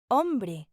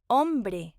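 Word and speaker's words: hombre: H is pronounced a remember the H in Spanish is silent say it with me a now let's say it in an example om man okay one more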